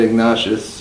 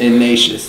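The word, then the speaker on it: Ignatius: a three-point loss to San Francisco School San ignaas or san ignacious ignacious that's how you pronounce it uh but uh Buck for them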